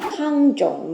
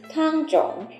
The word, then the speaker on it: Tangzhong: Yudane and Tangzhong are simply the same characters pronounced differently in different languages. In Chinese, Tangzhong, and in Japanese, Yudane.